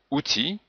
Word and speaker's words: outil: Mais dans outil, on ne prononce pas le L.